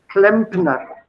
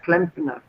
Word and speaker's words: Klempner: Klempner. Okay. Klempner. They are Klempner.